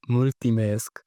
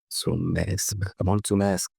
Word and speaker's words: mulțumesc: It's not pronounced multimesc. It's pronounced mulțumesc.